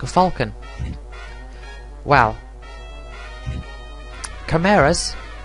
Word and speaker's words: chimera: like a falcon wow camaras or chimera however you want to pronounce it i think it's meant to be pronounced chimera is again on theme